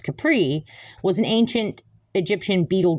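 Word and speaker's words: Khepri: Capri, spelled K H E P R I, but still pronounced Capri, was an ancient Egyptian beetle god, and he was a sun god.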